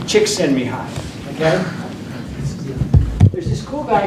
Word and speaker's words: Csikszentmihalyi: You pronounce his name Csikszentmihalyi, okay?